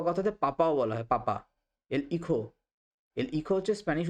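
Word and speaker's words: hijo: হচ্ছে বাবা ঘরোয়া কথাতে পাপাও বলা হয় পাপা ইখই হচ্ছে স্প্যানিশ উচ্চারণে কিন্তু লাতিন আমেরিকার উচ্চারণেইহ হচ্ছে ছেলে বা সন্তান ইহা হচ্ছে মেয়ে বা কন্যাল এরমান এরমান মানে হচ্ছে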